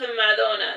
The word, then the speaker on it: Madonna: Pronounced Madonna. It's like Ma, space Donna, because like her last name is Donna.